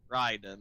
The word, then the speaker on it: Raiden: the 90s so they did not know that it's supposed to be pronounced Ryden so they did not